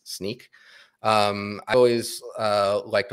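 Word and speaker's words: Snyk: you that's SNY YK I've hear some people pronounce it Snick but I think it's sneak um I've always uh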